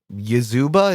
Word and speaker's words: Yazeba: I think Yazuba, is that how you pronounce it? Yazeba.